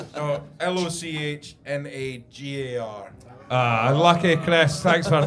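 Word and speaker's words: Lochnagar: Royal Loch Nagar. Is that how it's pronounced? What were you calling it? Right. Royal locking guard.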